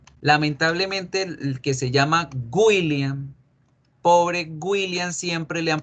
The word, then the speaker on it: William: con w cierto pero la gente en español tiende a pronunciar la w como una y una u con diéresis que son los dos puntos de arriba entonces la gente tiende a decir william incluso con n william william y así está mal no debemos pronunciar william la verdadera pronunciación de la w es una que se convierte en una o todo decir es william william william my name is william